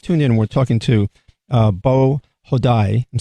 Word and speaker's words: Beau Hodai: What is now one thing you mentioned is that in your report here, and if you just tuned in, we're talking to Beau Hodai.